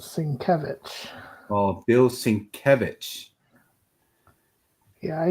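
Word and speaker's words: Sienkiewicz: And here's Bill Singlewick. Is that how you pronounce his name? Bill Singlewick. I believe it's called Sinkevich. Oh, Bill Sincvich. Yeah, I used to call it sinkovitz.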